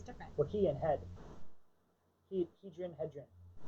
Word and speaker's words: Hedren: You're breaking it at the he and then saying drun. I'm saying Hedren because I'm breaking it after the D.